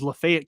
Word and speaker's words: Lafayette: you know uh in in Oxford it's everybody there says Lefayet County even though it's named after a guy named Lafayette.